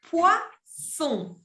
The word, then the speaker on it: poisson: Et finalement, on a le poisson. Les poissons. Ça s'écrit avec 2 S, parce que si j'écris poison avec un S, c'est prononcé comme una Z, on dit poison, eso significa veneno.